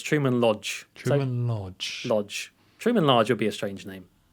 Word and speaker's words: Truman Lodge: got his name wrong it's not Truman large it's Truman Lodge Lodge Truman Lodge will